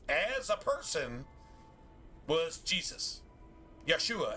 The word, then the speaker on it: Yeshua: Yeshua actually is how it's pronounced in Hebrew.